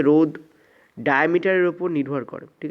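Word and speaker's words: ρ: এই যে rho sign দিয়েছি এটাকে কীভাবে উচ্চারণ করতে হয়, সরি, রো বলে উচ্চারণ করতে হয়। এই যে রো সাইন দিয়েছি এটাই হচ্ছে তোমাদের রোধাঙ্ক, ঠিক আছে। তো এই যে আমাদের ফিগারে এলো, যখন রোধের সঙ্গে আমরা লেন্থ এবং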